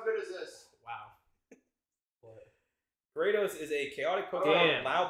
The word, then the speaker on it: Gyarados: Gyarados, say it right.